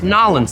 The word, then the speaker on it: New Orleans: from Nolans in Louisiana it's a New Orleans New Orleans nolens that's how they pronounce it down uh down there it's a donut from